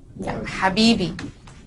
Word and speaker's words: Habibi: slowly as I can Habibi Habibi oh baby oh baby which one is an actual word Habibi which means my dear